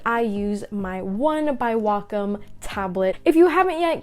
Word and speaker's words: Wacom: how to say it it's not wacom it's wacom hey guys it's